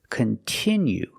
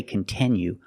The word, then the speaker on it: continue: Continue. We cannot change that sound. We cannot say continue. We have to use the I sound, continue. Example, if you continue to practice English, your English will get better.